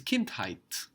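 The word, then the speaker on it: Kindheit: t Kint childhood is Kint height Kint height Kint height Kint height so this height ending is like Hood in English and actually used much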